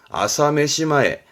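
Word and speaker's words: 朝飯前: 우리말로는 조반전 다른 말로는 뭐 그렇죠 식은죽 먹기다 발음은 아사메시마에 아사메시마에 정도 챙겨도 괜찮아요 다음 자 책받침 변이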